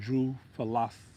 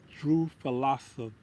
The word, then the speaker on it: Drosophila: I think that's how you pronounce it. Drosophilus. Hold on now. That's a tongue twister. Drosophila. Drosophila. Drosophila. Drosophila. Drosophila. That's what it's called.